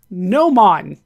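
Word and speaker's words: gnomon: to pronounce things uh GN Mo n no man Apparently that is the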